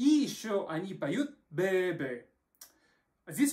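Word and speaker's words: bebé: Тогда это должно быть «бэ-бэ», ударение в конце.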